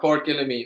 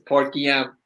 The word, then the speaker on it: Port Guillaume: It's not Port Gillamine, it's Port Guillaume.